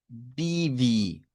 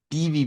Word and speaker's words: baby: Para el idioma dutch la palabra se pronuncia como puede ser con un sonido de E, como baby o como bibi. Bibi blau.